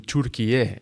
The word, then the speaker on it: Türkiye: And in Turkey, in Türkiye, the right way of pronouncing that actually.